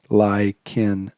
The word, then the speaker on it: lichen: simplex you get the the deal and it's pronounced lycan simplex chronic like igloo iccus it is a